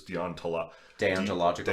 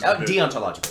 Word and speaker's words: deontological: and like a dion i never know how to pronounce this deontala logical deontological i think it's dangerous it might be deontological which is the deontological yes which is the difference